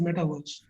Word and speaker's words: metaverse: is coming up is metaverse. Now, I would like you to hold on to this term in a very simplistic manner and consider this like a universe. Metaverse rhymes with universe, so it's like a